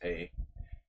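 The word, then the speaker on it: hely: In Hungarian, hay, H-E-L-Y. It's pronounced hay.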